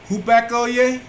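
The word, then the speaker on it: hupakoē: And we have G5218, Greek 5218, and it is hupakoye, and it is spelled Hupakoe, and it means attentive, hearkening, compliance or submission.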